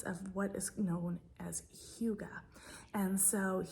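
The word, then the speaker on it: hygge: creating a sense of what is known as Huga and so Huga I'll put the pronunciation on the screen for you guys Hua it is a Danish or Norwegian word um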